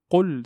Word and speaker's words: قل: Ici, le qaf est emphatique. Donc, c'est une lettre emphatique qu'on doit prononcer de façon amplifiée. On ne dit pas qul, qul. Il y a certaines communautés qui prononcent en fait leur qaf de cette façon. Qul, ça c'est une erreur dans la langue arabe. Qul, qul. Et on évite de prononcer le qaf comme un kef, parce que là, on va changer le son du verset.